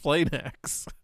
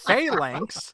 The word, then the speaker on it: Phalanx: Like, no, I'm pretty sure it's pronounced Flanax. How is it pronounced Flanax when the L comes after the A? Yeah, you don't usually see PHL used a lot in words, do you? It's Phalanx, named after the Roman